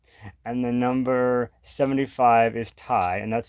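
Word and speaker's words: Tai: And the number 75 is Thai, and that's spelled T-A-I, sort of like the Thai food, but pronounced Thai, like Ty Warner, the creator of the Beanie Babies, actually.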